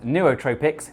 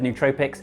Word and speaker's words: nootropics: you should know is that technically nootropics is pronounced Neotropics but I find that weird to say and I've always said nootropics so I'm sticking with it you can also